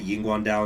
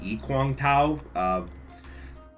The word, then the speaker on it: Yiguandao: uh the guangdong movement which is how i'm going to pronounce it by the way i'm going to call it the yin guan dao instead of the ee kwang tao you know with chinese name sometimes you just got to pick an incorrect pronunciation and go with it it's like cow cow